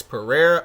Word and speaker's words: Pereira: heavyweight champion taking on Alex Pereira or pan depending on how you want to say his name either is correct he will he is